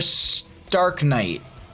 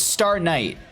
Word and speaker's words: Star Knight: Is it Star Knight or Stark Knight? It's Star Knight.